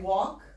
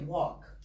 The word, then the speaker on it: walk: So when I say walk, do you hear the letter L? Not really, walk.